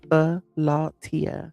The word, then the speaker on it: Philautia: But the correct pronunciation of this word is Philautia.